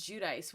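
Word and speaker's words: Giudice: I think I think she says Judice, which is criminal. It's G I U D I C E. It looks like Ji. If you knew Italian, you would probably imagine it's Judy, but I'm pretty sure she says Judice.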